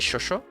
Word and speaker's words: XOXO: I always pronounce it shosho, but I that's just Portuguese, because X sounds like sho.